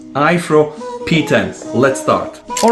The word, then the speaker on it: Aiffro: I really hope that I'm pronouncing it correct it's AI FF r o ifro P10 let's start all